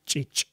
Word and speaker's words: ch'ich': So, let me try this. Chich versus chich.